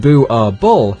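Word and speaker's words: Boerboel: prey these dogs are illegal in Norway Louisville pronounced Dewar bull is a Dutch Afrikaans word for farmers dog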